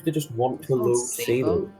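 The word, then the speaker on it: Sabot: No, but it seems to just want to load Sabo. I call it Sabo. Yeah, it's pronounced Sabo.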